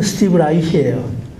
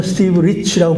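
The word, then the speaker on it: Steve Reich: 그게 뭐냐 그러니까 독일식으로 발음하면 스티브 라이히예요. 이 사람 독일계인데, 근데 영어식으로 하면 스티브 리치라고 불러요.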